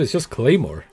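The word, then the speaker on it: Claidheamh Mòr: And I never knew how to pronounce it until one of my friends were like, "Dude, it's just Claymore."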